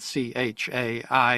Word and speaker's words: chai: I love the play on words because chai is spelled C-H-A-I, and it can also be pronounced chai, meaning life in Hebrew.